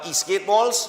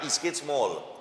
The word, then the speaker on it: Eastgate Mall: And it's at Eastgate Malls? Yes, sir. Right, Eastgate's Mall, not malls. Eastgate are one Mall.